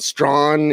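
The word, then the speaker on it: Strachan: here for the colts mike strawn and that's the way you pronounce it strong strong yeah strong strong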